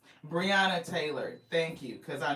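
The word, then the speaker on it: Breonna: Briana Taylor, thank you because I know I wasn't saying it right.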